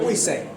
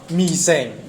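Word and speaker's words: 微信: 么微谁，但其实微这个字福州话怎么念啊？是念微这个字福州话是念密啊，所以它照道理讲要念米谁，但是没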